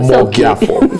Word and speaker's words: Omogiafo: Did I get the pronunciation Omogiafo. Right? Omogiafo.